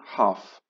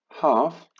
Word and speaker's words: half: wymowa love love love nie słychać w ogóle literki l zawsze jeszcze raz powtórzę haf zapisujemy jak widać wymawiamy